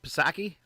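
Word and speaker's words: Psaki: um jen how do you say her name pasaki yes all right uh just as she said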